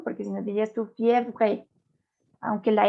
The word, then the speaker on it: fièvre: última E no se pronuncia. la última E no. No. Esta no. No, porque si no dirías tú fièvre, aunque la R la lleva, la arrastra.